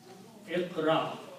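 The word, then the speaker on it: اقرأ: what we usually do, we add an alif in the beginning with a kasra and combine these 3 letters, Iqra, like that.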